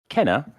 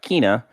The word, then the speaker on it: Kena: the recently released kenna burch's spirits and it's pronounced kenna and not kina and not kana so uh there you go in the game